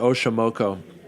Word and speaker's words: Oxomoco: You're the only people to know this, but we're going to call it Oxomoco. And so that's spelled Oxomoco, and that is based on the goddess of night, the Aztec goddess of night.